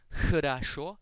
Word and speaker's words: хорошо: In Russian, this letter is pronounced like the letter H. It is a little more aspirated than the letter H, and you pronounce it by constricting the airflow.